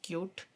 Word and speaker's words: Qt: क्यूटी है इसको हम ओरिजनली इट इ pronounce S क्यूट बट इट इ written S क्यू एंड टी सो इट इ मोस्टली प्रोनाउंस क्यूटी तो सबसे पहले हम